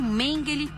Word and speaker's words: Mengele: conheceu o médico nazista Joseph mengel ou mengel na pronúncia alemã durante a segunda guerra